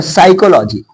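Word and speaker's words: psychology: मत करो आगे देखिए य पी साइलेंट यदि एस से पहले पी हो तब वहां पी साइलेंट होता है जैसे यहां पर साइकोलॉजी साइकोलॉजी साइकोलॉजी अबे साइकोलॉजी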